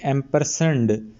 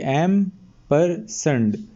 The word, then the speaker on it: ampersand: ये जो एंड का सिंबल होता है इसको एक बार यूज़ करोगे, इसको इम्पर्सेंट कहते हैं, AMPERSAND, एम्परसेंड। इसका स्पेलिंग है AMPERSAND, एम्परसेंड।